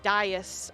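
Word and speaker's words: dais: it's the right word Das Das dis is not wrong pronunciation you're you're right Das is correct oh okay that's yeah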